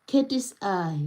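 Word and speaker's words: KATSEYE: Oh, Katie's eye saying says it's pronounced as Katie's eye.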